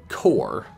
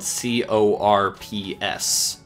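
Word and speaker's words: corps: with that word because I tried to say it the way that it's spelled and they're like no no the end of silent Corp no core what why that's nonsense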